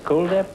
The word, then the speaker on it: Kuldhip: day Brendon daily and cool dip racing is that is that the way you pronounce it cool dip yes it is uh like the word cool yeah well I had